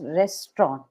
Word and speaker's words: restaurant: were s awful right right so the correct pronunciation of restaurant is restant rest rest yeah rest okay so today when